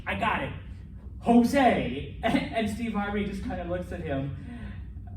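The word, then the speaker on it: José: like not a y it sounds like an english h so that's jose it's not jose okay it's jose okay um anything with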